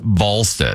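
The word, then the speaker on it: Wallstedt: And then I think they won, uh, was, uh, is it Walstead or Valstead? Tabby. It's spelled Wallstead, but it's pronounced Vstead.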